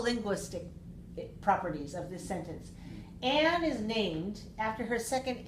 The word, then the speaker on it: Anne: Okay, so Anne is a common name, A-N-N, or A-N-N-N-E. Those are two common spellings for the name Anne, A-N-N, that's the shortest one, or an extra E, which is not pronounced, which I guess we